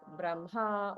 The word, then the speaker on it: Brahma: the spelling is correct the H comes first that is the grammatical uh correct spelling but the pronunciation is that we switch it so it would be like Braha or brahan van he